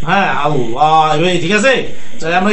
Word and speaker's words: আল্লাহ: এবার আমরা আল্লাহ শব্দ এই ঠোঁট দুইটাকে গোল করে পুরো মুখে লামেটা পড়তে হয়, কেমন? জি। লা না পড়ে এক ধরনের লয়ের মতো উচ্চারণ হয়, কেমন? হ্যাঁ, আল্লাহ, এবার ঠিক আছে।